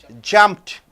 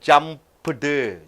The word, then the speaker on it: jumped: is unvoiced over here so you are saying jumped j-u-m-p-t jumped so one syllable jumped you don't say jump d jumped one syllable because it ends with p now suffer it ends